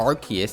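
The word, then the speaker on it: Arceus: is the arguments for archus as the proper pronunciation is simply the fact that every official piece of English media pronounces the name as archus by archus archus archus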